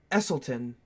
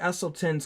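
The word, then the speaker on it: Esselstyn: years in 2014 Dr Caldwell not going to pronounce that e-s-s-e-l-s-t-y-n esselton oh I guess I did pronounce it Dr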